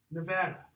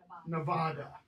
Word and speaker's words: Nevada: some people knows this Nevada not Nevada listen to Mitt Romney the guy doesn't know worries and pronounces Nevada it's not Nevada so that's I mean